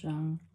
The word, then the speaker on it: Jung: Oh, so I listened to this video about like the mother wound and like um Carl Young. I hope I'm saying his name right. I think the J is silent.